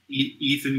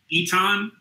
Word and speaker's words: Eton: I will then step back to let Ethan go first. His name keeps changing. I can't say his name is right. What is it again? It's spelled like Eton. Eton? Yeah, Eton. Eton. Eton.